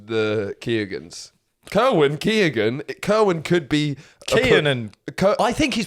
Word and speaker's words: Keoghan: Barry Keoghan. Yeah, let's talk about it. It annoys me that you don't pronounce it Keoghan. Yeah. But I've read recently the G is pronounced. Yeah. Therefore it's Keoghan.